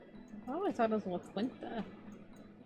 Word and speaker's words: La Quinta: I always thought it was La Quinta.